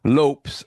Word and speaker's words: Lopes: he clarifies that while Lopez is understandable, the correct sound he uses is closer to lops or lops. All right. So I'm not that bad. Okay. With a short O sound.